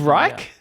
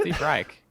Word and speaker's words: Reich: Steve Reich? How do you say it? Steve Reich. Steve It's- Reich. Why did I think it's it was Reich. Reich? Anyway, Some Steven. people say it differently.